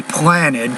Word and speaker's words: planted: Now, if you take a word that ends in a T or a D, let me give you an example. The word plant, for example. If I make plant past, I'll say planted. I do put ED and an extra syllable on that, but not on the word signed.